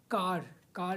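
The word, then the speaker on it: carro: आर आई सी ए एन O America right कार is called कारो कारो the spelling of कारो इज़ सी A double R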